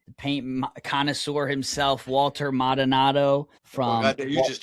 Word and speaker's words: Maldonado: Mal- Maldonado.